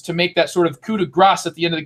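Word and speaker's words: coup de grâce: And by the way, I am pronouncing that correctly. I took a French class and they gave me crap for saying coup de grace before I started saying it differently.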